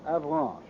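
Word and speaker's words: Avranches: peninsula is 75 M across between K and Avan I'll spell that again for those of you who have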